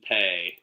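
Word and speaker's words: Peay: is laying four and a half at Austin pay you say pay I say p i wonder is is it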